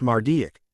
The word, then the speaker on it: Marduk: Babylonian Pantheon of gods Harry asked it is pronounced mardic and The Wizard in question later inspired said